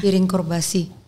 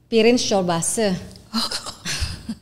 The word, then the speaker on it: Pirinç çorbası: Ini bacanya piring juga ya nih. Mana? Piring korbasi. Pirinç çorbası. Pirinç itu artinya rice.